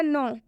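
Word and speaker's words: know: इसका सही उच्चारण होगा नो और इसका सही उच्चारण होगा डेट क्योंकि नो में के साइलेंट होता है और डेट में ब साइलेंट होता है ऐसे बहुत सारे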